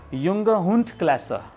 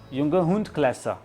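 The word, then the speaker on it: Junghundklasse: तो मेल और female class में जो भी ये 18 से 24 मंथ में होगा उसे कैसे बोलना है? उसमें बोलना है युंगहुंडक्लासे, युंगहुंडक्लासे।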